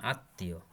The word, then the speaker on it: আত্মীয়: শব্দের মধ্যে ম ফলা থাকলে সেই বর্ণ উচ্চারণে দ্বিত্ব হয় এবং সামান্য অনানুষ্ঠানিক হয়, যেমন আত্মীয়।